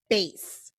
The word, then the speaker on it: BASE: and I'm gonna put bass. So it rhymes with ace, like bass, but obviously Okay.